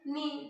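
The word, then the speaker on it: neigh: याचा उच्चार काय आहे, नी, पण स्पेलिंग एन ई आय जी एच, म्हणजेच काय, खिंकाळणे, घोड्याचे खिंकाळणे.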